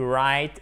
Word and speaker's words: write: I'm starting to write a book. Vous vous souvenez qu'on ne prononce pas le W.